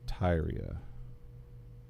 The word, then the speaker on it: Tyria: How to pronounce Tyria?